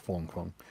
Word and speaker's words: Fang Fang: Something like Yeah, it's spelled Fang Fang, but it's pronounced like Fong Fong.